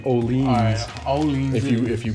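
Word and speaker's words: Öhlins: don't like it yeah most people say olins but it's actually olean if you if you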